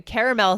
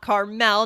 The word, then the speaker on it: caramel: And then I said I'm going to make a caramel sauce. You would have said I'm going to make a Caramel sauce, not Carmel, not the city, guys.